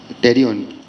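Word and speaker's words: pterion: टेरियन P silent है टेरियन है नाम इसका, जहाँ पर 4 बोन आके मिलती है टेम्पोरल स्फेनोइडल फ्रंटल एंड पैराइटल।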